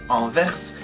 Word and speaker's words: Anvers: And for the French pronunciation of Antwerp, Anvers, I really thought it was cool, and even if you pronounce Anvers in English, it sounds like Anvers.